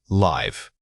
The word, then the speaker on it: live: First, live.